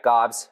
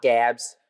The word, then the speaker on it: Gabs: So yeah, Gobs, not Gabs, not Gobbs, even though that's how it's pronounced, just Gobs.